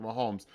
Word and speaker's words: Mahomes: said it right the quarterback that is Patrick Mahomes it's great to have all these insane things